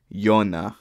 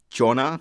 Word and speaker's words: Jonna: North of Sweden okay so it's pronounced yon yon okay I think I got it right that time I was saying Jonah like that's how I read it so y